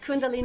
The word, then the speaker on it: Kundalini: Yes, it's called Kundalini.